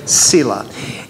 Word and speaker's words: Selah: letters it comes from the hebrew word pronounced the same way sila and it just means